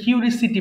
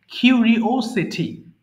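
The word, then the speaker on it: curiosity: এটা আমরা ভুল করে কিউরিসিটি বলি এই ও টাকে কিন্তু নিতে হবে আদারওয়াইজ উচ্চারণটা ভুল হবে কিউরিওসিটি কিউরিসিটি কিউরিওসিটি মানে কৌতুহল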